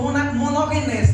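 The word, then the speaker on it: μονογενής: primeiro filho a nascer e outro é mones ou monogenes né que é melhor a pronúncia monogenes que significa único filho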